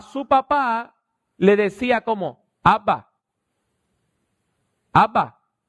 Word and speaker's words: Abba: a hablar a su papá le decía como Abba Abba Y eso es equivalente a decir papito